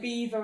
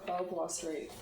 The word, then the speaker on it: Belvoir: English were like, no, we don't want to pronounce it the French way. It's like Beaver and Belvoir. Yeah. Yeah. For such a long time, I thought it was Belvoir Street.